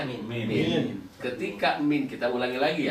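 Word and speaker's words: مِن: Berarti ketika huruf mim dan nun menjadi huruf jer tidak boleh dibaca man atau mun, dia tetap dibacanya min.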